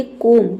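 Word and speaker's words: comb: और दूसरा बी के पहले एम आएगा तब साइलेंट होगा। नम नम मींस होता है सुन। ठीक है? कोम।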